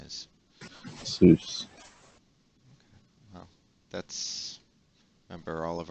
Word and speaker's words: SUSE: And as a matter of fact, it's actually pronounced SUSE.